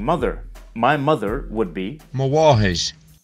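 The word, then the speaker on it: mo mháthair: Mawahish. Notice that the initial consonant is pronounced more like W or V, rather than a bilabial nasal M sound.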